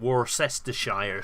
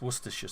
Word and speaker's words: Worcestershire: you pronounce it i i've heard some people pronounce it warcestershire sauce and it's it's worcestershire sauce what's this or worcester sauce yeah and